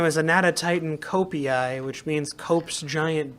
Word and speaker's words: Anatotitan: This is the Anatotitan, a name that means Wait. giant duck. Anatotitan? Anatotitan. Where's the toe? T-O. It's A-N-A-T-O-T-I-T-A-N. Anatotitan. Okay, there it is.